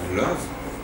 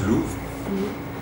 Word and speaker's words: Løve: Alors certes, il y a une petite marque sur le O, et ensuite c'est un mot danois qui se prononce love.